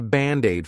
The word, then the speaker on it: Band-Aid: Of course is our contraction of it is, it's Band-Aid is 2 words. But to pronounce them like one, I'll take that D and transfer it to the vowel.